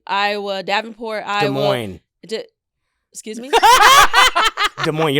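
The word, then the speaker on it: Des Moines: Desmond, Iowa. Davenport, Iowa. De Moines. Excuse me. De Mo. You don't pronounce us.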